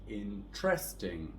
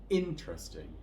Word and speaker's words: interesting: So most of my Spanish speaking clients will say this as interesting, with a stress on the second syllable, or interesting on the third one if they add that. But in English we're going to stress the first syllable here, so we will say interesting.